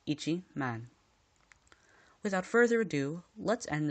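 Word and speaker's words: 一万: rule the 10k rule if the number is merely ten thousand it must be pronounced with itchy before man example ten thousand equals Ichi man without further ado let's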